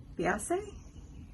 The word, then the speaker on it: Beiesa: reach out and try to get them to pronounce it for me it's she said bae yeah they say beyonce beyonce okay so it is the beyonce beauty